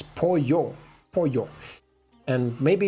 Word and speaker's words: pollo: a double ouch V double L it's not pronounced it's like my opponent here Polo it's Poyo Poyo and maybe it's a polio x i so 11.